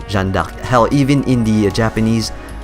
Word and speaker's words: Jeanne d'Arc: or Joan of Arc, but the actual pronunciation of her name is actually Jeanne d'Arc. And you can take my words for it because I am French as well, and this is how we say her name, Jeanne d'Arc.